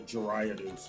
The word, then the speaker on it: Gyarados: It's kind of like why Gyarados is a staple or Gerados is how I pronounce it.